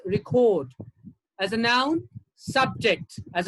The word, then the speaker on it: record: verb it's protest as a noun it's record as a verb it's record as a noun subject